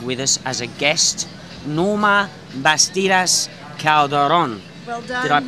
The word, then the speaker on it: Norma Bastidas Calderon: Here today we are very proud to have with us as a guest Norma Bastilas Calderon. Well done. Did I pronounce that properly?